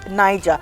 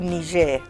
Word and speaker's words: Niger: eastern border of mali niger niger niger it's pronounced niger but you got it right you pointed to the right country and you pronounced you said niger but it's actually niger okay all right but you got it right